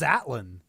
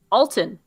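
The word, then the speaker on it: Altan: Alton? Have I been pronouncing that wrong? I thought it was Atlan. Alton.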